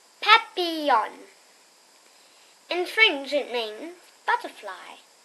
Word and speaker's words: papillon: You say it like this, papillon.